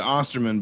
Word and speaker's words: Osterman: Osterman. Did I say that correct? Actually, people always ask this. We pronounce it Osterman, but the German pronunciation is Osterman.